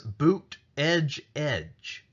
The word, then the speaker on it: Buttigieg: displayed on his website says bucht edge edge that is a phonetic explanation of how to pronounce his name so you know that